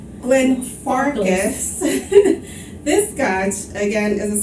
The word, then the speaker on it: Glenfarclas: Anyways, today's Scotch is Glenfarclas, right? Yes. Did I say that right? Glenfarclas. Glenfarclas.